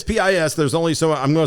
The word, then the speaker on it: Pis: It's pis.